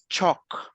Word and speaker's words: chalk: For example, these words, guys, if you notice, we don't pronounce the letter L.